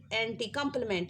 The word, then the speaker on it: compliment: अब प्यारे बच्चों, दूसरा यहाँ पे लफ्ज़ है, उसकी स्पेलिंग, मतलब पढ़ने में तो हम इसको कॉम्प्लीमेंट ही बोलते हैं, लेकिन उसकी जो स्पेलिंग है वो अलग है। That is COMPLIMENT, कॉम्प्लीमेंट।